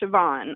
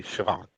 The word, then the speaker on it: Siobhan: B is in boy, Han, and it's pronounced Siobhan. I know it's got a B, but it's pronounced with a V.